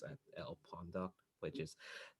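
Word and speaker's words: lpondoc: i do is just retweet things it's at l pawn dog which is not as it's pronounced um it's about l-p-o-n-d-o-c i've made this joke too many times if you want to pronounce it it's technically pronounced pondok um that's that's not great um so yeah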